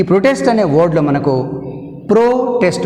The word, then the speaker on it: protest: ఇప్పుడు ఈ పదాన్ని ఎట్లా వాడినాం, నౌన్గా అడ్జెక్టివ్ వాడినప్పుడు ప్రో మీద వస్తుంది stress mark. Stress is used as అంది ప్రో syllable. That means first syllable. ప్రొటెస్ట్లో ప్రో first syllable, టెస్ట్ second syllable.